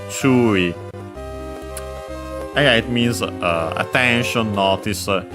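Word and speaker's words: 注意: One of those accented on the first syllable.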